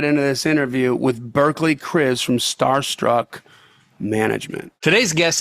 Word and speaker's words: Kriz: Yes, Chris is correct.